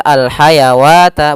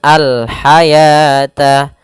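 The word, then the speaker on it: الحياة: Maka wa di sini bukan dibaca alhayawata bukan. Tapi dibaca dengan alhayata bukan alhayawata. Sehingga ditandai di sini dengan warna abu-abu yaitu huruf wunnya dianggap tidak ada.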